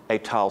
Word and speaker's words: étale: And he says étal space over and over again.